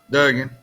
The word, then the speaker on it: Duggan: I don't, is it Dugan or Duggan? Duggan.